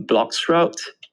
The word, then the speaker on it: bloXroute: sorry if i if i'm pronouncing this wrong um blocks route am i correct you're actually pronouncing it perfectly and i have to